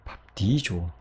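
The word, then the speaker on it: βαπτίζω: 이 밥디듀오가요, 좀 더 발음하기 쉬운 쪽으로 변화가 되는데요. 어떻게요? 여러분이 보시는 것처럼 조로 변화가 되는 거예요. 밥디조. 그래서 원래는 밥디듀오였던 것이 밥디조가 되었다.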